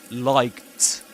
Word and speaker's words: liked: We pronounce these as liked. Liked. Why? Because the C sound in English is voiceless. You say C. No vibration in the vocal folds.